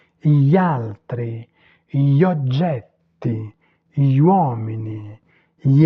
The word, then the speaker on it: gli altri: On dit gli altri, on ne prononce pas le I.